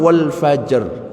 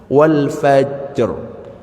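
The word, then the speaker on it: والفجر: Ro itu jangan dihilangkan. Termasuk wal fajr ya. Kadang-kadang wal faj ya salah rnya hilang. Wal fajr itu bacanya seperti itu.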